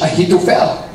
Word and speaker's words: Ahithophel: You see, Ahithophel. I don't know if I'm pronouncing it right. That's how we call it in British English. Ahithophel.